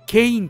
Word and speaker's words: 圭音: 福島の下の名前はケインと読みます。